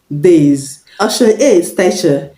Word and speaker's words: days: Christ outside see days days pronounced I should be sis the s in C's is pronounced now ocean D is pronounced days the s in days is pronounced Z this is when the